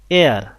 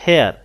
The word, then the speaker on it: heir: হি হ্যাজ অ্যান এয়ার, এয়ার নট হেয়ার, তো এখানে এইচের উচ্চারণটা হয়নি, এখানে একটা ভাওয়েল সাউন্ড আসছে, এই কারণে বসিয়েছি এন।